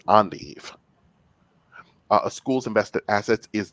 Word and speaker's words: endive: little bit tougher because it's not pronounced with an endn sound it's an endive a school's invested assets